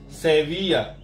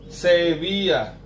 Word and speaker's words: Sevilla: 2 L itu biasa kita sebut dengan Y.